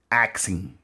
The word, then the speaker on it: ask: way you do, like asking. Instead of saying asking, we say, no, go ask your mom. Go ask your mom. My wife say, axe. You're going to cut him with the axe.